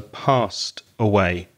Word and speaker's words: passed: It's a regular verb, pass, and the pronunciation of the ED is T, so passed away.